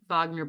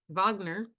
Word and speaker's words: Wagner: of sex migan okay Wagner Vagner uh pronounced V written with a W pronounced V Richard Vagner he redid the way